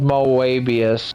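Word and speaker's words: Moebius: Uh, called Moabius. Yeah. Mobius spelled with an E, which is like based on the word Mobius strip.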